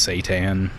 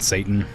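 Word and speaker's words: seitan: Pronounced Satan, not Satan.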